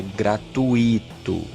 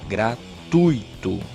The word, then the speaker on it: gratuito: vogal substantivo abstenção gratuito não é gratuito é gratuito certo se você pronuncia a palavra de forma errada você vai separar as sílabas de forma errada também se você fala gratuito na hora de separar as sílabas você vai colocar um efeito entre o wii e